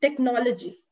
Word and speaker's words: technology: So here it's technology. So no is the second, like no is where you'll be placing the stress upon.